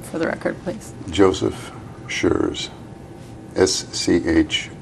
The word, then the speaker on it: Schreurs: Schurz could you spell your name state your name and spell it for the record please Joseph sure's SCH r e urs okay thank you have